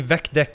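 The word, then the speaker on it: VecDeque: Apparently, vecdec is the correct pronunciation.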